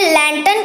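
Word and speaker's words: lantern: लालटेन को इंग्लिश में लैंटर्न कहते हैं और इसमें जो आर है इसको आपको साइलेंट प्रोनाउंस करना है।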